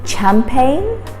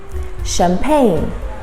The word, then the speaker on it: champagne: number five is champagne we don't say champagne so the first ch is pronounced as a champagne champagne how often do you have